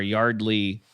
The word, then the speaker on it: Yeardley: Uh I think it's pronounced Yardley.